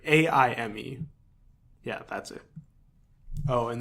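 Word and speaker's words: Aimé: So his last name is Fils-Aime, and it's Fils-Aimie. Yeah, Aimie. No, wait. No, I'm sorry. Aime.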